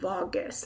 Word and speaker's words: vagus: I think it's called vagus, not, because if you say, pronounce the other word, it'll sound like Vegas.